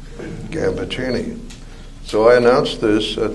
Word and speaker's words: Gambaccini: And they came back all fired up with pride in our origins and insisted that we change our name to the correct pronunciation, Gambaccini.